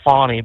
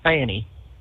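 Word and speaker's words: Fani: Stacy Abrams or Fanny, I don't want to call her Fonnie because it doesn't spell it that way. It's Fanny.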